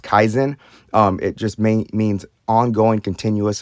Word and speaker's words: Kaizen: So there's a Japanese philosophy called, I believe it's pronounced Kaizen.